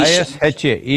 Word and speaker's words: Isha: I-S-H-A, Isha.